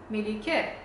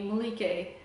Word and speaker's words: Melike: name and over time they started calling me Malik and at the time I really resented this pronunciation because at least the constants are correct but nothing else is but I was